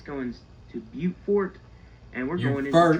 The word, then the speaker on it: Beaufort: And now we're jumping off of Interstate 95 and we're signed for Charleston, South Carolina, and we're signed for Beaufort. Beaufort? No, that is pronounced Beaufort.